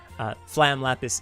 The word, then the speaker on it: Flam Lapis: colleagues at wright flyer flam lapis is the correct pronunciation uh i don't have